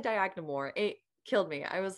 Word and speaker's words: Dyagnamor: And instantly I got very beautiful comments from people who have been, like when you said Dyagnamor, it killed me.